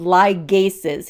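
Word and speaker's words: ligases: category of enzymes are called liases here that hard G liases these catalyze Bond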